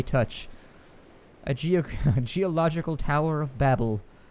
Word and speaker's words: Babel: a geological tower of Babel. Or Babel. I mean, some people like the alternate pronunciation. I like to go with Babel, but, you know, Babel works too.